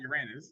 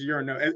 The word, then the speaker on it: Uranus: I thought it was Uranos, but it has an O. Uranos, yeah. Uranos. It's not Uranus. It's Uranos. It's kind of like how it's Thena, not Athena.